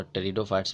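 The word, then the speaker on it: Pteridophytes: में piece silent है उसी तो टेरिडोफाइट्स ने पी साइलेंट है तो इसको तेरी से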